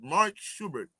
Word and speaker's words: Mark Schubert: Okay, how do you pronounce it? Mark Schubert.